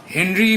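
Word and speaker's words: Henri: ফরাসি বিজ্ঞানী হেনরি Becquerel বা ফরাসি উচ্চারণে অরি বেকেরেল বলে, ইনি এক্স রশ্মির প্রতিপ্রভা নিয়ে গবেষণা করছিলেন।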